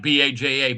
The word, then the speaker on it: Baja: My uncle lives in Baja, which is the Gulf of California. Oh yeah, Baja. Yeah. Baja. Well, yeah, but it's spelled like Baja, but it's Baja.